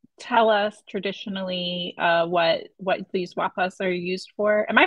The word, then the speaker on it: Wa'paas: And can you tell us traditionally what these wapas are used for? Am I pronouncing it correctly? You can correct me. Yes, yeah, wapas.